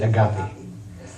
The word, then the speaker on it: agape: But the most well-known that you've all heard, and this is not the way it's actually pronounced, but we pronounce it agape.